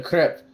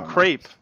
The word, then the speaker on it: crepe: A crip. It's like a fucking pancake or something. Oh, a crepe.